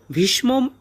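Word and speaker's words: ভীষ্মম্: করে উচ্চারণ করব ভীষ্মম এখানে ভীষ্মর পরে যে মটা আছে এই মটা অর্ধেক উচ্চারিত হবে ভীষ্মম একারটা এ হবে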